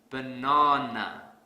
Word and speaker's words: banana: Let's say I pronounce this word as banana. This is incorrect because I don't stress the second syllable. So to fix this, I will stress the second syllable really hard.